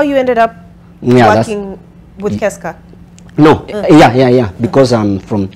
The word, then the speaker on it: KESCA: Spell it for me, Kes? Keska.